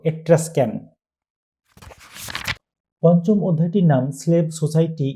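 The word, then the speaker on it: Etruscan: একটা কথা বলে রাখি অনেকে এট্রাস্কান কে এট্রোস্ক্যান উচ্চারণ করে থাকে কিন্তু এর সঠিক উচ্চারণ হলো এট্রাস্কান পঞ্চম অধ্যায়টির নাম স্লেভ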